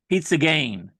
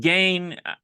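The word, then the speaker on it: pizza gaina: pizza game uh and gain I think I'm pronouncing it correctly gain is uh spelled g-a-i-n-a I don't think it's Pizza Gainer I think it's just I think it's just pizza game and of course Jerry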